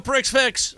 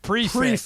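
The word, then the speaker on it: prix fixe: like an x-rated joke I'm looking for a prick fix yeah yeah what are you getting sensitive about prick fix no see that's where we got lost earlier yeah it is spelled prick fix but it's pronounced prefix prefix all got it I love it so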